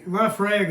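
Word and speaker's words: Laphroaig: Yeah, Lafroig, I think, is how it's pronounced.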